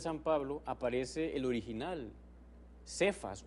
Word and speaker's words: Cefas: Ven, ahí aparece esa expresión Cefas o Kefas, como se dice en otra pronunciación, porque era tan importante el nombre de Pedro que dejaron el original.